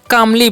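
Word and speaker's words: calmly: कामली नहीं पढ़ना है देखिए यहां पर सी काचन क करना है ए का आकार तो हो गया का और एल जो है ना यहां पर साइलेंट होता है ठीक है तो एम कान करेंगे तो हो गया काम और एल वाई है तो ली तो हो गया कामली इसे हम क्या पढ़ते हैं कामली पढ़ते हैं ठीक है और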